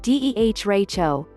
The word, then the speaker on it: derecho: defines a derecho as pronounced similar to deh racho in english or pronounced phonetically as